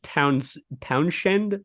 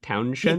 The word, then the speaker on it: Townshend: Pete Pete Townshend. Townshend. Yeah, it rolls weird off the tongue, but I believe Yeah, because so. it sounds like it's supposed to be Pete Townsend, and it's Send.